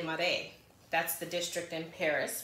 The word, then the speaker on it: Marais: small for me so this is called the Louis Vuitton Murray right um it doesn't sound like that so I had to kind of go out and try to figure out how to pronounce it so it's the Lum it's named after a district in Paris so it's called Uh Le mare that's the district in